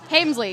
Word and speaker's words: Hemsley: Hemsley.